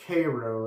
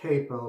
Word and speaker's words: Kapo: Let's see, my cream that I'm going to be using is this, well, it's pronounced Cairo. It looks like Capo, but I guess the P has an R sound in Cyrillic, Russian, whatever it is.